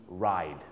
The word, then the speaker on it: ride: R I D E Ride ออก เสียง ดี ๆ นะ ครับ Ride เพราะ บาง คน ออก เสียง ไ ไป ออก เสียง ไ My Bike จะ แปล ว่า ขีด จักรยา ต้อง ออก เสียง right My Bike ซึ่ง Verb